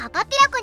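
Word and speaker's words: かはひらこ: てたよねこれも当時の読み方にすればカパピラコになるのだカパピロコやっぱり日本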